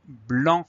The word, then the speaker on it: blanc: Alors dans ce mot blanc, il y a une lettre muette, c'est le C. Donc on a première syllabe, enfin seule syllabe d'ailleurs, B-L. Le son en c'est A-N et on va avoir le C muet.